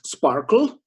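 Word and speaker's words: SPARQL: the language is called Sparkle it's not ask you like SQL not Sparkle ql or the authors claim that it should be pronounced as sparkle it's a w3c standard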